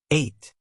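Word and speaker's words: eight: 8. The EI sound is long, like I.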